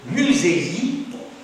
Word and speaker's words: Musez-y: ensuite, nous avons simplement un Y qui se prononce I, on ne va pas dire Y, qui se prononce I. Alors, ça fait musez-i. Amusez-vous. Madame a l'air un peu perplexe. Non, ça va. Musez-y. Musez-y.